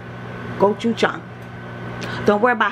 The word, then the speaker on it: Gochujang: so this is the Korean inspired it is pronounced go CH Jong goou Chong don't worry about how I know I know